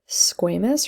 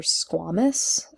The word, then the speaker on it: squamous: Okay, so if we start squamous or squamous, so you'll hear it be pronounced either way, right?